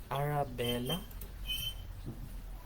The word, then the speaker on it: Arabella: Arabella Dagao? Am I pronouncing it right? Arabella?